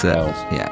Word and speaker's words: Giles: But it's Giles. Giles. Oh, it's like, oh no, The beguiled. the beguiled guy who can't deal with this. Now I've got to go. No, I'm sorry, that's not how you pronounce my name.